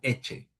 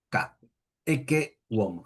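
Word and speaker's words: Ecce homo: famosas palabras e omo, que algunos pronuncian eche, eche, homo cuando hay doble s. Ese heche es, digamos, en italiano vulgar, en latín siempre es k e womo.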